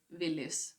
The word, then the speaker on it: Willys: We actually pronounce it Willys, so it's not the same.